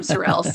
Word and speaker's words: Sorrel's: Madam Sorels. Yes. Yes. Surels.